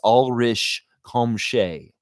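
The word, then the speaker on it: Ulrich Chomche: Say, the Raptors, it's Ulrich Komshay, please. Yes, it's Oshai Abaji. Yeah, give him that pronunciation guide, Justine Jones, because those jokers are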